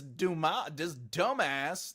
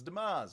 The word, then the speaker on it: Dumas: this dumbass. No, it's Dumas, right? Dumas. Blah blah, blah baka.